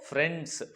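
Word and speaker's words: friends: हम क्या पढ़ेंगे इसको फ्रेंड्स फ्रेंड्स यहां पे देखो आई लगा है लेकिन आई की कोई आवाज नहीं आ रही है ठीक है इसी सब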